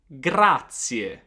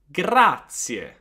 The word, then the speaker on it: grazie: I want to hear that final E.